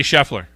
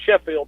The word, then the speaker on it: Scheffler: jefferson there we go i was wanting to call him sheffield i didn't want to say it wrong not xander schofly scotty scheffler so just we gotta make sure we get the right guy scotty scheffler just so you know